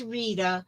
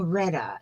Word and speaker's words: Rita: rita now i know it is rita with a long e was named after my aunt marita oh c and marita is a beautiful name okay i kept saying redda and i thought well that didn't really sound right but that might